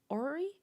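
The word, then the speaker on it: orrery: has how do you say that word o-r-r-e-r-y Ori the Ori yeah I did say that right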